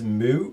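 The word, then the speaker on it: Mü: go for it uh my number 16 is Mu or me or how you're supposed to pronounce it is it it's German yes me it's in the box and more and more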